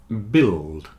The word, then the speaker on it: build: business women business women biscuit circuit and build have a silent U you see the U